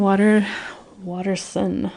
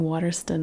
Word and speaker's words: Watterson: And so, yeah, the Meggan Watterson, I should say. I've been saying Watterston, I think, forever in my mind.